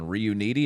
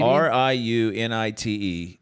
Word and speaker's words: Riunite: who got hooked on Reuniti. Am I saying that right? What? That wine? Never heard You know of that it. shitty wine? What is it? Reuniti? That might be mispronounced. Reuniti? Riunite.